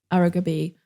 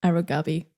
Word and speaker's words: Araw-Gabi: I can tell that the emphasis is on the b in aruga b not aragabi I'm so sorry I